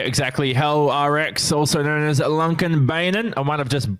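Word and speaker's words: Lånkebanen: I did speak to someone who was Norwegian, and they told me the correct way to pronounce it is Lunkenbeinen, but they also told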